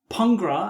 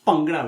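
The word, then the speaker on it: Bhangra: They sometimes say "pungra" and it's wrong. Or even worse, they look at it how it's written and say "bangra", which is a big mistake. So, it's pronounced "bangra", which I think I'm comfortable with saying.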